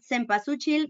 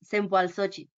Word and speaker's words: cempasúchil: You can pronounce that cempasúchil, but people nowadays is asking to pronounce that in the correct Nahuatl way, so it's cempasúchil.